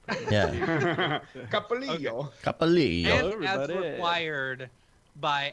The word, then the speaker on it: Copolillo: Copolillo. Thank you. Copolillo. It's Copolillo. the Italian, not the Spanish. Yeah. Capolillo. Copolillo.